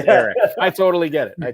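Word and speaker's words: Elic: He like, "It spelled E L I C, but it's pronounced Eric."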